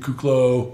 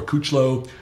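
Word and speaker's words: Kuclo: Rafael Brandon Curie Charles Dixon of course Steve kook low or couch low as you say is the proper way to pronounce it Josh the liniment alarm it's Victor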